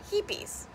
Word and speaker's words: HEPES: heaps of peeps or is it hippies scientists can't agree on how to pronounce the name of this pH buffer but they can't agree